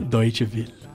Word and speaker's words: Deutsche Welle: Ó, a pronúncia, como é que é, Arthur? Deutsche Welle.